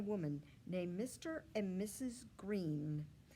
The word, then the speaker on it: Greene: Greene, that's Greene with a silent E at the end, discovered that they were expecting a baby girl.